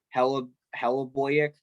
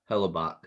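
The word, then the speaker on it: Hellebuyck: really good job and uh their goalie conor hella hello boyak sorry say that these names are weird it's it's uh hellabach hellabach all right i'm sorry if i for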